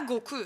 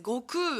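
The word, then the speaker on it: 悟空: C'est pas Goku, c'est Goku en japonais, avec un allongement.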